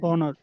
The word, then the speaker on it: honor: But let's say that the first letter of the word is a silent consonant. So here, if the second letter or the pronunciation of the word begins with a vowel, we will use article an.